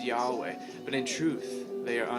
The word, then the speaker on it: Yahweh: what we transliterate yhwh over time we've added an a and an e to get yahweh to make it pronounceable but jewish scholars have